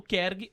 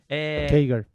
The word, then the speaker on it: CAGR: Eu vi pessoas falando KERG, outras falando Kager. Kager, outras falando CAGR, KGR. tanto A faz. pronúncia tem para todos os gostos.